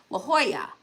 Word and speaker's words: La Jolla: I was trying to say, I was trying to remember the H. La Jolla. See, I can say it. La Jolla, La Jolla, La Jolla, La Jolla. But in the moment, in the panic of trying to say it right and not saying the wrong word, the wrong sounds, I was so focused on the H that I got the ha, but I didn't get the rest of it right.